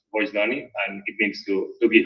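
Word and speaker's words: Vocdoni: And we started to work on Bogdani, which, by the way, it's written in Esperanto. It's pronounced Voicedoni, and it means to give voice.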